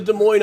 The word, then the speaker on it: Des Moines: des moines you know you come to des moines on tour and pronounce it correctly we will love you